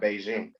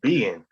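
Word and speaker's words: Bigen: saying the word that brand is not beijing it's not biz beijing no it's being that's how you say it yeah vegan that's how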